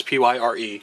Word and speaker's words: Pyre: captain uh pyre here which is the correct punch in a pronunciation because it's p y r e pyre it is potter yeah so not fire not pyre no coming to p